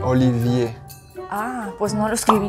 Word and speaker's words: Olivier: Oliver... Olivier.